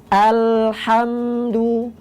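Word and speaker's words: الحمد: Nah, sahabat Iqra bisa berfokus pada lam yang sukun. Alhamdu, alha, alha. Jadi suaranya mengalir sebentar itu.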